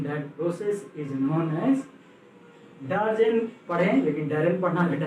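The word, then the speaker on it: Darzens: इस प्रोसेस का पूरा नाम है डैरेन, ऐसे इसको डैरेंज भी पढ़ते हैं, सॉरी डैरेंज नहीं, डार्जेन होना चाहिए, हाँ डार्जेन।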